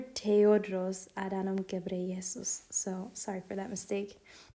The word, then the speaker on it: Tedros Adhanom Ghebreyesus: So, ironically, when we were editing this video, we found out that we actually mispronounced his name, and it is Dr. Tedros Adhanom Ghebreyesus.